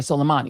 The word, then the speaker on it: Soleimani: Donald Trump ordered a drone strike on Major General Qassem Soleimani near Baghdad International Airport, where Soleimani Soleimani is how you pronounce his name.